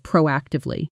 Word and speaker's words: proactively: Notice the stress falls clearly on the first syllable of proactively.